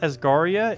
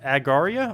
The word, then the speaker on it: Agaria: It's not Asgaria, it's Agaria? Oh, Agaria. Oh, I was adding letters, apparently.